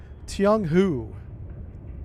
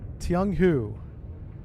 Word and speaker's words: Tiong-hu: Oh, and I've been saying this name wrong the entire time. So I looked this up. This is pronounced in English, Tiong-hu. Tiong-hu.